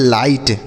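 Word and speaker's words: light: तो इसे हम इन दोनों को मिलाकर पढ़ेंगे हाई और एल आई जी एस टी को हम पढ़ते हैं लाइट।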